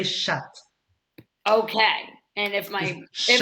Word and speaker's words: chat: have to warn you never pronounce the t when you mean cat because if you happen to say chat uh it's just a word for in french okay oh oh so never say shut okay and if my